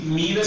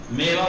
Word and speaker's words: میوه: میوے پڑھنا ٹھیک ہے. تلفظ میوے. میوہ مت پڑھنا. اردو میں میوہ بول دیتے ہیں.